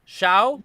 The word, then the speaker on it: Hsiao: Dan-Souci, based on a story by, and then the screenplays were by Rita, I'm going to mispronounce this, Shao, which is Hsiao, Chris Sanders, Philip Lezebnik, Raymond Singer, Eugenia Bostwick Singer.